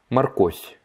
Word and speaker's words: морковь: La carotte, морковь, морковь, морковь. On prononce bien à la fin le fie, fie, fie, морковь.